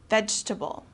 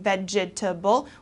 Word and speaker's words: vegetable: for dinner okay so here we don't pronounce every single syllable instead of saying vegetable we say we kind of shorten it and say vegetable all right another one